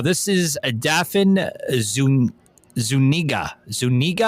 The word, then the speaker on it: Zuniga: Zuniga I think that's how you pronounce her name.